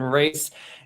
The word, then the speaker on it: Rhys: on LinkedIn it's Rhys kind of pronounced like Reese's Peanut Butter Cups not rice if you're trying to